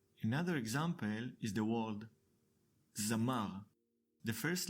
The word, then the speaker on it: זַמָּר: Another example is the word Zamar. The first letter Zain is decorated with Patach. We pronounce it Za-mar.